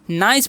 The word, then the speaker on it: nice: तो इसे नी से पढ़ने का गलती कभी नहीं कीजिएगा। यहाँ पर CE है, उसका उच्चारण तो स तो होगा, बट आई का उच्चारण यहाँ पर आई ही होगा और ई का उच्चारण नहीं होगा।